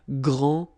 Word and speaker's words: grand: you don't pronounce the final D, you don't the D here, and you don't pronounce the final S. Okay, so grand, and then same thing here, grand.